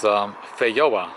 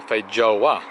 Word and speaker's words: feijoa: these are pineapple guava also known as fair yahwah or feijoa depending on pronouncing the J or not and this is a